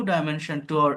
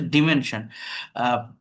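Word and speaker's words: dimension: নিউ ডাইমেনশন এটা ডিমেনশন হবে। উচ্চারণটা হচ্ছে ডিমেনশন।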